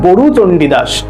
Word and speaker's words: বড়ু চণ্ডীদাস: আবার বলছি নামটা কার লেখা মাথায় রাখতে হবে, বড়ু চণ্ডীদাস, ব ডয়শূন্যরয় হস্যু, এটা কিন্তু অনেকেই আমরা গরু উচ্চারণ করি, সেটা কিন্তু আমরা করব না, এটা মাথায় রেখে দেবে, উচ্চারণটা কিন্তু বড়ু চণ্ডীদাস।